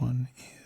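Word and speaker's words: を: Okay, this one is pronounced o, just like the vowel by itself, but this one is used only in grammar.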